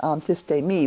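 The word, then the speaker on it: ἀνθίστημι: istay me on t it's pronounced on this day me but they're too little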